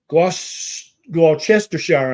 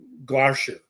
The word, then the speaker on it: Gloucestershire: LC from Gloucestershire. I'm sure that's not how you pronounce it. It's probably Gloucestershire. Is that right? They tend to forget to pronounce the middle few syllables of place names like that.